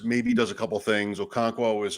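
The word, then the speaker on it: Okonkwo: get out Spears maybe does a couple things okono is okono uh that's how you say it by the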